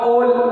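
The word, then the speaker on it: ol: इस तरीके से like methanol, ethanol, propanol, butanol, all, ओल, ओल, ऐसा मैं प्रोनाउंस कर रहा हूँ।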